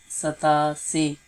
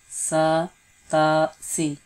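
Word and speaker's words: ستاسی: 87, sata si, sat, that means 7, and asi, sata si, sat, and then ta, and then si, sata si, sata si.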